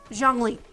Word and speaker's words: Zhongli: Zhongli.